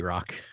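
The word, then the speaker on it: Rok: I pronounce his name Rock, but that's okay. Rock. Is it Rock? Oh, yeah, R-O-K. I guess it would be R-O-K. Yeah, R-O-K. That would be Rock.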